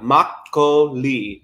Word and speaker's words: makgeolli: it sounds like you're calling my name uh it's spelled m-a-k-g-e-o-l-l-i mako lee there's also my name too makkali what's so